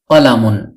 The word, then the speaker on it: قَلَمٌ: শব্দার্থ শিখবো ইনশাআল্লাহ আর সেই আরবি শব্দটি হল কলামুন কলামুন একটি কলম কলামুন একটি কলম কলামুন একটি